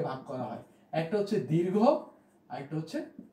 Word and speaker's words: দীর্ঘ: আমরা বলতাম যে রস্মি দীর্ঘী হ্রস্ব, এই যে বলতাম, উচ্চারণ আমাদের একটু ভুল ছিল। আসলে বিষয়টা হচ্ছে এই, উচ্চারণটা হবে এরকম যে হ্রস্ব এবং দীর্ঘ।